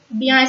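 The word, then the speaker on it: bien: The last nasal pronunciation, I-E-N, eon, eon, I-E-N, eon, eon, beyond. Beyond is a French word which has I-E-N, beyond.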